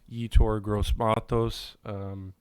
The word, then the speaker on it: Yetur Gross-Matos: I believe it's pronounced Yetur Gross-Matos.